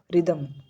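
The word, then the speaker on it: rhythm: जैसे यहीं पर है रिदम तो हमने एच को साइलेंट रखा एच हमने नहीं बोला रिदम तो इसका हम बोलते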